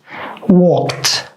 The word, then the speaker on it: walked: All these 3 letters that we added, they all are pronounced like t. So we say stopped, stopped, worked, worked, walked.